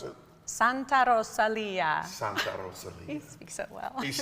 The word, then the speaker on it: Santa Rosalia: We do a live episode from, how do you pronounce it? Santa Rosalia. Santa Rosalia.